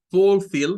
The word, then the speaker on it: fulfill: Veamos, en primer lugar, fulfill, miren, es una palabra de 2 sílabas. La primera es esta, con el sonido U, el que se parece a una omega, ¿verdad? U. Y fill, con el sonido corto para la I. Fulfill, fulfill.